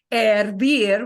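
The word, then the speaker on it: hervir: but the I.E and we don't pronounce the h of course with that uh verb ervir which is an e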